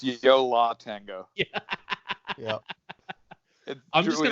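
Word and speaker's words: Yo La Tengo: And also, I guess this is probably my OCD, but you need to stop saying Yole Tango. I don't know how to say it. How do you say it? It's Yola Tango.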